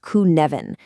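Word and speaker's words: Cynefin: This is the sinophen framework. And I know it's a funny looking word. It's Welsh and it's pronounced kvvin.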